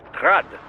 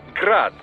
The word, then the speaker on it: Grad: Technically, the UG's name is pronounced Grad, the Ukrainian way. But most in the business pronounce it as Grad, Russian style.